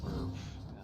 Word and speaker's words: VRV: a little bit um vrv which apparently they pronounced verve is vrv sorry yeah